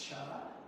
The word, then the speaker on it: Chih: That third word is pronounced cha.